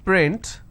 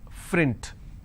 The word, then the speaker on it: print: For example, if I have the word which is print, lot of people pronounce this as frint. So that is where the mistake happens.